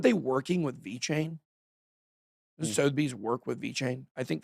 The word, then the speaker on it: Sotheby's: sold for over 12 million in the first Sotheby's, that's how you pronounce it, sale denominated in ETH. You sure you don't want to find a different way to pronounce it just for fun? Sotheby's.